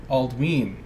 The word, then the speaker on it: Aldwin: from Eld some examples aldwin is pronounced aldwin because of the long vowel sound on the Y dernisk is pronounced durnish